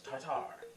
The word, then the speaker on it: tartar: night tried being like it's tartar it's spelt t-a-r-t-a-r not t-a-r-t-e-r so it's tatar oh food coloring pam